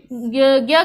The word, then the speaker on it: ज्ञ: ठीक है, तो हम कह सकते हैं कि उच्चारण की दृष्टि से ज्ञ किससे बना है? ज्ञ ग घड़ी वाला, घ गमले वाला और य से मिलके क्या बना है? ज्ञ बना है।